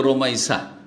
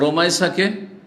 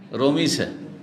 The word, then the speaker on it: রোমাইসা: আমাদের দেশের লোকেরা নামগুলো অনেক বিকৃত করে, অনেক নামকে কি করে, শুদ্ধভাবে উচ্চারণ করেন না। যেমন রোকাইয়াকে রোকিয়া রোকিয়া করে না, কি করে, হ্যাঁ রোকিয়া। ওই রকম রোমাইসাকে রমিসা, তাই না, বিকৃত নাম রোমাইসা।